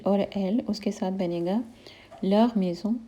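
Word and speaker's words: leurs maisons: अब third person plural है एल और एल, उसके साथ बनेगा लर मेज़ों यानी देयर हाउसेस, इसमें भी हम एस को प्रोनाउंस नहीं करेंगे।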